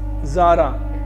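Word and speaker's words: Tzara: Founded by ट्रिस्ट्राम ज़ारा, T silent इसमें, ट्रिस्ट्राम ज़ारा, याद रखेंगे।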